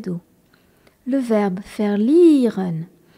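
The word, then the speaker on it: verlieren: à dos le verbe faire lireun V e r l I e r e n avec le V qui se prononce F et le i suivi d'un e qui est un ilon faire liren c'est un verbe irrégulier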